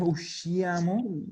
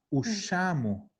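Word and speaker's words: usciamo: desaparece la I. No es ushiamo, es ushamo.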